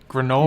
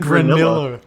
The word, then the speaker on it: granola: You said granilla instead of granola.